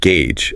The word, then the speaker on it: gauge: But the correct pronunciation is O. Quiet. It sounds like gauge.